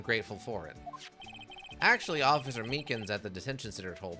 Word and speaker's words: Meekins: for it actually officer Meekins at the Detention Center told us ah that poor little doggy poor guy I keep getting his name wrong and calling him meekly he told us something